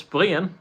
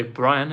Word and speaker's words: Brien: you say my name it's Brien that's the danger way of saying it Brien I can also say Brian if you want the English one um Brian that's the English way and in Danish